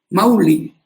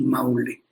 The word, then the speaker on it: Maule: Mauli, decían, pronunciaban en quechua. Ahora ya españolizado decimos Maule.